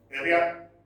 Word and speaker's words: Ariadne: Okay, Ariadne. That is the pronunciation.